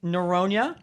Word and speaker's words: Norona: at the juvi podcast uh with neronia what's good everyone and josh altamura what's good did i pronounce both your names right yeah yes you